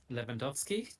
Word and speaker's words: Lewandowski: yeah, How should you pronounce Lewandowski? that would be how I would do it. The Okay. double W's are V's, right? Yeah. So yeah, Lev. I mean, it's Polish, so it's slightly different, but yeah, I would Lewandowski.